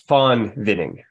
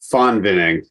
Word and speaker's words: Von Winning: It's Von Winning. The V is pronounced like an F. Von Winning. Von Winning.